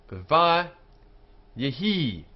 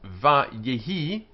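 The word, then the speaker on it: וַיְהִי: And this sign here, with the patach, which we can see here, indicates a secondary accent. Vayehi, so it's da da da, vayehi, even though it's really only two syllables. Vayehi, so it's da da da. There's this second that is very small and it's one counts as one syllable, da da. So vayehi.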